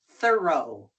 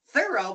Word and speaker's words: thorough: Then T h O r o G h is pronounced thorrow. Thorrow. Thorough. But that's a O. I know. But we pronounce like as a R.